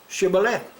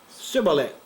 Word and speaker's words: shibboleth: If he said no, then they would say to him, then say, Shibboleth. And he would say, Sibboleth. For he could not pronounce it properly.